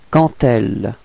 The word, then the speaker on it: quand elle: Okay, and here the D would be pronounced a bit more like a T. Okay, quand elle, alright, so we get elle peut quand elle veut.